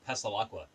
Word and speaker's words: Passalacqua: It's pronounced Pasalqua.